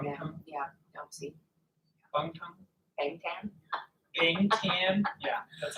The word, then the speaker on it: Bangtan: Bangtan.